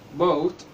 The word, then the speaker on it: boat: لما بيجي لنا حرف ال O في الكلمة بعد منه حرف A، حرف ال A بيسكت شوية وصوته بيقل خالص وحرف ال O بيبقى مغطي عليه، فبيبقى نطقهم مع بعض أو أو، زي كلمة boat boat